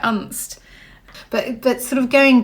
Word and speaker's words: Unst: we were listening because you pronounced it un and I was and I thought oh is it un or and and so before you went there you weren't pronouncing it right well I wasn't really sure how to pronounce it um but it seems well when I got there it seems that all the locals pronounce it unst but but sort of